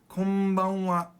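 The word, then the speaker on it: こんばんは: Now that N almost sounds like an M, doesn't it? Because when the N goes to the B, your mouth naturally makes an M sound. So some materials will spell it K-O-M, but that's wrong because there is no such thing in Japanese. There is no independent M sound. There is mami mumemo, but there's no sound in Japanese.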